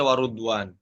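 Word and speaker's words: رضوان: Surah Ali Imran bagaimana cara bacanya? Waridwan dibaca warudwan.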